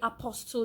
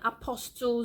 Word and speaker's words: apostille: silent T family guys please do not say a postal giant apostille Zoey I post all backway a postal Greg apostille says you you know just make the T silent and what else am